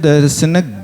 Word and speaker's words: दर्शन: अब उस ज्ञान के ज्ञा के आगे रहने वाले जो दर्शन शब्द का ना है, उसको थोड़ा सा आपको झटका दे करके बोलना है। सम्यक दर्शन ज्ञान चारित्राणि मोक्ष मार्ग, ऐसा ये उच्चारण करना।